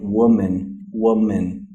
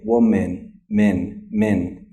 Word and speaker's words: woman: But if you listen carefully to an American pronounce the word woman, they're saying woman, min, woman, right? So it's an sound. It's not really a woman. It's not an woman. It's woman, min, okay?